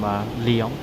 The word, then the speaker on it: Lyon: Pronunciation apparently is Lyon. Lyon, France. Actually sounds better saying Lyon. Or Lyon. Lyon? Lyon or Lyon. Either way, sounds like a lion.